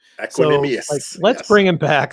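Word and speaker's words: Equanimeous: Equanimous.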